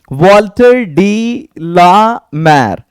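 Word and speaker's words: Walter de la Mare: बहुत सारे बंदे इसको पढ़ने में, इसकी प्रोनाउंसिएशन में उनको बड़ी प्रॉब्लम होती है। आप प्रॉब्लम फेस नहीं करेंगे। आज के बाद से आपको इसको पढ़ना है, वॉल्टर डी ला मैर।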